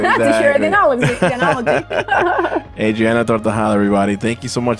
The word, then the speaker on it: Tortajada: Adriana Tortajada, right? Is that how I said it right? I always think there's like an L or extra letter. No, you did it perfect.